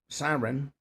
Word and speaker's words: Sarin: On Tuesday, the 28-year-old actress took a to social media to announce the January 28th launcher of Sarin uh pronounced Siren with Susan the new promotional photos.